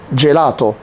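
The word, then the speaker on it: gelato: والاي بتتنطق جي، جي زي الجيلاتو، جيلاتو.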